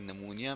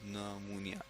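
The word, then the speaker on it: pneumonia: इसको मिक्स करते हैं नमूनिया में रेट एसपी एन यू नुनिया ठीक है जी चीज जो है वह साइलेंट है तब इस नमोनिया इसके इलावा है इसको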